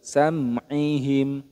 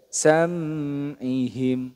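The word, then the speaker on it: سمعهم: maka dibaca izhar syafawi jadi dibaca jelas samim tidak boleh samihim Nah itu kurang tepat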